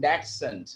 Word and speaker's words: dachshund: E kaalu kuri neela valla patti undalle ende peru endo with short legs that adu English ezhudanam ende pronunciation dachshund ennaanu dachshund adinte spelling venam.